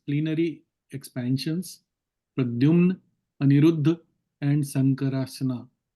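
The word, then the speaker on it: संकर्षण: expansions, Pradyumna, Aniruddha, and Sankarashana. Sankarshan. Sankarshan. Sankarshan. Yes, Sankarshan. ठीक है, इसलिए sometimes those who are familiar with Devanagari should read in Devanagari. Then the pronunciation comes correctly.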